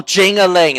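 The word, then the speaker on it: Jingaling: Oh, Jing-a-ling, that's how you say it.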